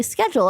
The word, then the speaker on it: schedule: told like oh like it's actually schedule and I was like that makes sense. School schedule schedule.